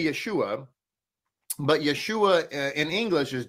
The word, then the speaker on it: Yeshua: itial who would ever say that the name of the Messiah is anything other than Yeshua or yahoshua I want to make that Crystal Clear okay so if in fact you come across other pronunciations such as yua or yahushua or whatever just understand that that is not correct it's again it's not